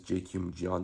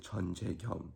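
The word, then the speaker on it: Jeon Jae Kyum: do you pronounce it my name is j kim jian that's how you pronounce it in english and in south korean you pronounce it chan che gum it doesn't sound anywhere near the same where's like what happened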